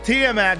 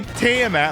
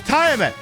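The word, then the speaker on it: Tiamat: matched and i pray and i learned it's pronounced tmat now because that's how it was pronounced in the game that's named up there that not allowed the drop spoilers from it's apparently team at i've been pronouncing it wrong my whole [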